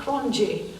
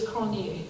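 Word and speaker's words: Cronjé: A lot of people I've heard on films and what have you, old soldiers, pronounced Cronje, but it's Cronje, and it's an Afrikaans, originally Huguenot name.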